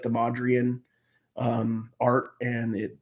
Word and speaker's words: Mondrian: It's not Mondrovian. I don't know what. Yeah. Mondrian.